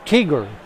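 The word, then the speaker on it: Teager: It's called a tiger, and it just has to do with the breed itself. It's spelled T-E-A-G-E-R.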